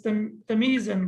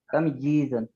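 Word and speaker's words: تمييزا: Most of the people, they read it as tamizan, but it cannot be tamiz because meme is sakin. Tamjizan. Yeah, because meme is sakin. So meme is sakin. The second ya has kasra and the next ya is sakin. So there is no way to read it tamizan. I don't know. So it should be read as tamjizan.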